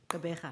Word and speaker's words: Gqeberha: called, it's now called Gqeberha. Remind me how it's said? Gqeberha. There you go. You try. Not too bad. One of the Nguni tongues, which some of us struggle with.